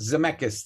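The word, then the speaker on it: Zemeckis: Uh, I think it's Robert Zmechus, I think, is how it's Zcchus. Zamechus. That's it.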